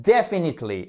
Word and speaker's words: definitely: sûr of course définitivement definitely et on met bien l'accent sur la première syllabe definitely une autre façon